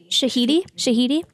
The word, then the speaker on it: Shahidi: Yara, is it Yara Shahidi? Shahidi.